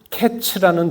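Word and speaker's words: קץ: 그런데 끝이라고 쓰여진 단어는 캐츠라는 단어입니다. 그래서 이 둘은 발음상 유사하거나 같은 발음으로 이렇게 발음할 수 있다는 것이죠.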